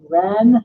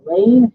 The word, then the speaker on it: Ren: just let you know this character's name is pronounced ren not lane oh excuse me so